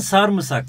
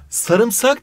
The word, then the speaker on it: sarımsak: geçen sene Bir yarışmada hocam sarımsak mı Sarmısak mı sarımsak diye okunur sarımsak diye yazılır Buna dikkat etmemiz gerekiyor